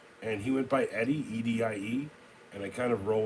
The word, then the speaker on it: Edie: That's spelled E-D-I-E. No, it's not a very specific way of spelling it. It's like saying Edie, but like when you spell it and people say it at restaurants, they're like Eddie.